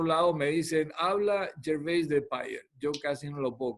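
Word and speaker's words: de Peyer: Nosotros le llamábamos de Payer, lo pronunciábamos en francés, pero en Inglaterra es de Payer.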